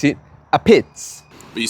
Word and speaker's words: Apizza: pizza it's one word a pizza but you pronounce it a pitz but you say it like this a pizz a beats I never knew that well I only that